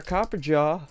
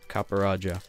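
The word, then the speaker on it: Copperajah: right word here's our copper jaw or copper raja whatever still has jaw on it i didn't realize i was saying it wrong the whole time yeah i'll leave him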